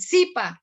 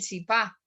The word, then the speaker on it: zipa: Las palabras que normalmente vienen de las tribus indígenas del altiplano cundiboyacense siempre tienen el acento sobre la primera sílaba, nunca sobre la segunda. Uno, por ejemplo, habla del zipa, no habla del zipá.